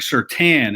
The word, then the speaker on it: Surtain: the alabama crimson tide and um it's patrick certain is how the last name is said i